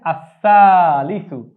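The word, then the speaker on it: الثالث: যদি তিন হয় সেখান থেকে তৃতীয়ের আরবি হচ্ছে আসালিসু আসালিস শব্দের অর্থ তৃতীয় এখানে আমরা ল লিখেছি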